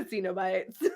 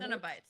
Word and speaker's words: Cenobites: Cenobites. Cenobites? Oh. But I want to spell it with a Y. I say Cenobites because Kino.